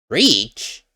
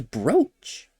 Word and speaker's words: brooch: A bridge breach. That's how you pronounce it. I thought it was brooch.